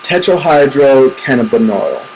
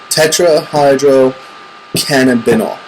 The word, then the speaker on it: tetrahydrocannabinol: Anyways, weed is very popular because it contains a drug called tetrahydrocannabinol. I think I pronounced it right. Tetrahydrocannabinol.